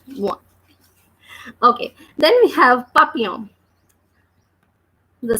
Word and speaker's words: papillon: Then the last letters are ON, which are nasal vowels or which give nasal sounds, and they are pronounced as O. So that's why we are reading this word like papillon.